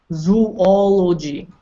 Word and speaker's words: zoology: is all we go you kind of think there's a you there but there's no you zoology though neta sounds like